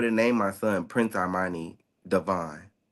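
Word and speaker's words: De'Vaughn: it's the way I pronounce it, which is the correct way that it's supposed to be pronounced when you're referring to me individually as a person. It's Prince Armani Devon. Devon, Yeah, yeah. Prince Armani Devon, Devon. So Devon, it's like Devon, Devon. like that. But it's spelled like Raheem Devon. So the DE, the apostrophe, capital VAUGHN, Devon.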